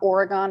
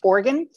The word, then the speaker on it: Oregon: organ right I'm told Nick two syllables for for it's not Oregon it's Oregon so he grew up